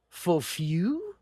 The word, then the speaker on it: Fofão: a fictional foul, which I guess the real pronunciation is fu.